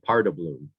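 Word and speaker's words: paardenbloem: that really tickled me parda bloom that's how you uh pronounce that part as a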